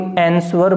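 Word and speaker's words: answer: अब यहां भी थोड़ा सा ध्यान देना, इसे कोई आंसर बोलता है, कोई आंसर बोलता है, ये न तो आंसर है न ये आंसर है, इसमें वह साइलेंट है।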